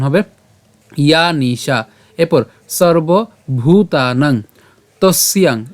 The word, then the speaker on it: তস্যাং: ইয়া নিশা, এরপর সর্বভূতানাং তস্যাং, এই যে তস ইয়াং, তাই আমরা একসাথে উচ্চারণ করব।